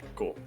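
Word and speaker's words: 五: that symbol is pronounced like go, right?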